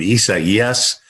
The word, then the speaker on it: Isaias: I mean, Isaias.